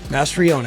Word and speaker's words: Mastriona: Mastriona, yeah. Mastriona. Yeah, you were. I said Mastriona. Just a little bit off, but it's not easy. It's more of a Latin pronunciation of the name.